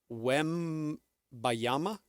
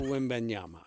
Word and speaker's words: Wembanyama: I'm hearing Wembayama. Yes, yeah. Wembayama. Yeah. It is, say it with me, 3 syllables. Wembanyama.